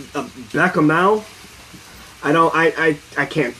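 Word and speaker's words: béchamel: Bechamel. Okay, there we go. I can't fucking pronounce French.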